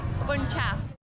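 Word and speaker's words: bún chả: Now we're going to go try some food we haven't tried before, which is pronounced bun cha.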